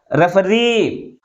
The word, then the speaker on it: referee: Next example is referee. How many syllables in this word? 3 syllables. But which is pronounced with a greater force? That is third one.